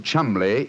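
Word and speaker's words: Cholmondeley: Being an American, he had no reason to know that the name Chumley is in no way pronounced the way it is spelled.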